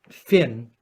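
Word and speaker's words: Fionn: warrior poet Shaman King fion feun sometimes Finn but fume is really how it's pronounced I believe asks what is the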